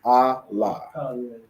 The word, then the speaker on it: Allah: So the I separate, La and Ha joined together. So Allah.